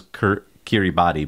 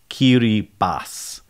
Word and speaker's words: Kiribati: set of islands the Gilbert Islands and it's pronounced I thought it was Kiribati but it's qt bas basically which is how you translate Gilbert into